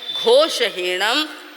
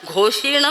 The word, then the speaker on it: घोषहीणम: स्पष्ट कहते हैं आपसे कि भगवान ने फरमाया है घोषहीणम जोगहीणम। फेरते ही क्या, घोषीणम, घोषीणम नहीं है, घोषहीणम, जोगहीणम, घोष रहित, हीन यानी रहित, घोष रहित मत बोलो, दोष रहित बोलो, गुण सहित बोलो।